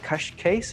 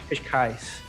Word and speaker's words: Cascais: I'm going to have a much harder time pronouncing the Gracie Barra school you're from. Is it Cascais, is it? Cascais. Cascais, which is just outside Lisbon in Portugal, right?